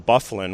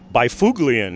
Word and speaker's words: Byfuglien: came along in hockey, you look at that name and it's Byfuglien if you pronounce it the way it's spelled, but of course he likes to have it pronounced Byfuglien.